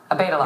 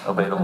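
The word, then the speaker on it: Obeidallah: Is that how you pronounce it? Obeidullah. Yes, Obeidullah.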